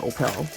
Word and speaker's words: Opel: And that is the way it's pronounced, Opel. As I was taught by a Swedish young lady I knew years ago, that is the way it's pronounced in Europe.